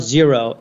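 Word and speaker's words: Xero: in New Zealand and it's a company called zero x e r o is how it's spelled uh small business accounting software um think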